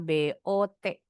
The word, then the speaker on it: bought: But GH kalau di tengah kata itu selalu silent. Ini U-nya pun enggak bunyi. Jadi bacanya B O T. Bot disambungin atau border. I bought a bad.